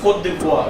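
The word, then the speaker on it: Côte d'Ivoire: I'm saying, what's the pronunciation? Cote No, it's Cote d'Ivoire.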